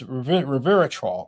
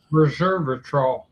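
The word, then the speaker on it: resveratrol: cancer cells and uh I'm mispronouncing this, but it's reveratrol and c and rveratrol. Reservatrol. Reservatrol. Thank you.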